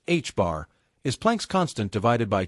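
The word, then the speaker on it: ħ: And h pronounced h bar is plank's constant divided by 2 pi.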